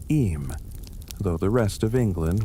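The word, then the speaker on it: Eyam: Fast forward three centuries, the year 1665, the place, a sleepy Darbisher settlement called Ayam. two syllables that locals pronounce em, though the rest of England will soon pronounce it in awe.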